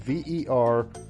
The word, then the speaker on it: Verviers: mayor of verviers belgium i'm butchering the name of that city i'm positive it's spelled v-e-r-v-i-e-r-s i'm calling it verviers okay real it really